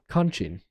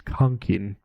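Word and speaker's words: conching: Conning. Oh, pronunciation. It's conking.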